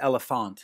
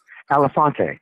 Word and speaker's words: Elefanté: can correct the pronunciation is it elefante or just elephant yes elefante elefante which is great because it sort of sounds like my last name right so yeah